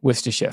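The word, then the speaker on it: Worcestershire: Well, well, uh, yeah, Worersha, for those of you wondering, there it is.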